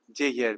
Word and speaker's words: Yael: Oui, prononce mon nom bien là. Yael. Jael. Voilà. Jayel, parce que j'ai tellement essayé de prononcer dans l'accent du mon grand-père.